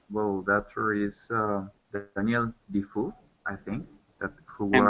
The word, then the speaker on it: Defoe: also the book well, the actor is Daniel Defoe, I think, that who And what?